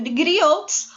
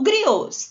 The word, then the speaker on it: griots: E isso era feito por um grupo chamado de griots ou griots, do jeito que vocês acharem melhor pronunciar essa palavrinha, certo?